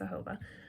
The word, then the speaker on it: jojoba: That's spelled Jojoba, but it's pronounced jojoba.